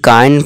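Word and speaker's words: kind: जैसे कि वाइंड अभ इसे किंड नहीं काइंड पढ़ेंगे इसे माइल्ड और इसे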